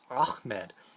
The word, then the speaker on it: Ahmed: someone whose name is spelled like Ahmed, but I believe the proper pronunciation for that name is Ahmed.